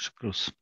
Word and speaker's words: Shakruz: Yes, Shakruz.